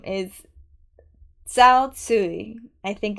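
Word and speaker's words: Tzuyu: uh her name is zsi I think is my best pronunciation that I can give as close to the Mandarin but people call her chew that's how they say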